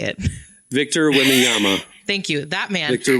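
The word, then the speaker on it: Victor Wembanyama: because I don't know how to say it Victor wiama thank you that man Victor whama made $10.1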